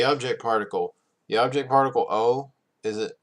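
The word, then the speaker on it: を: touch te oh no it was once pronounced wo so it's now the o sound so it's it's supposed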